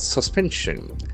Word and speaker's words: suspension: We can feel the syllable of the word suspension. Suspension. The accent falls on the second syllable. Suspension. There are three syllables.